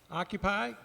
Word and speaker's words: OccupAI: OccupAI, is that correct? Occupy, got it.